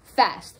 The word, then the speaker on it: feast: But because it's rhymed with best, you know it's pronounced fest.